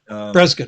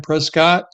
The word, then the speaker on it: Prescott: prescat in Prescat Because yeah, Prescuit. I'm sorry. I apologize, Ken. I keep saying Prescott and I know it's pronounced You talked about on your radio show one morning.